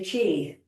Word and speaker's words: qi: So number three is to welcome the chi becauseq chi is everywhere andqi is is energy is spelled qi.